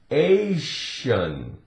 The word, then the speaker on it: Asian: S sounds like sh in the word Asian. Asian.